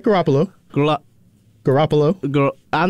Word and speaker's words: Garoppolo: trade for jimmy garoppolo i know i butchered that name now you got it right garoppolo garoppolo girl i'm not